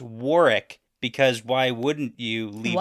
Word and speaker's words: Warwick: but apparently it's pronounced Warick because why wouldn't you leave that why would you say the W yeah the second though